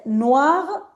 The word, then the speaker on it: noir: ver, El único problema que tiene este color es que se pronuncia muy parecido, la pronunciación es la misma. ¿Está bien? Noir, noir, no diferencian en la pronunciación.